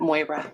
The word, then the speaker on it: Moira: Rhymes with Boira. Yep, Moira.